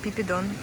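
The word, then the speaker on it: Phi Phi Don: is the island of Pipidon or Phiphidon the locals say they call it Pipidon the weather today is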